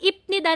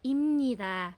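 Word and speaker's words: 입니다: So ito po yung spelling ng ipnida natin pero ang bigkas talaga niya is imnida.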